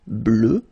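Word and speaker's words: bleue: at the end okay phonetically it doesn't exist because you don't pronounce it so you get blue as you would get for the masculine form okay but still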